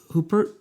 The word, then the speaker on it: Huppert: Waterston, Isabel Huppert. Am I saying it right? Huppert, yeah.